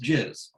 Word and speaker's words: jizz: jizz you could say jizz gis general impression and size but it's pronounced jizz so uh you can